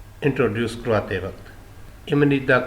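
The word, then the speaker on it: 입니다: वह है इम निता लिखने में तो है इप निदा प्रोनंसिएशन इसकी है इमनीदा लाइजेशन रूल के हिसाब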